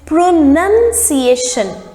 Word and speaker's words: pronunciation: words pronouns and pronunciation when you say pronouns the sound is pronounced but when it becomes the noun form it is pronunciation n-u-n pronunciation i like her pronunciation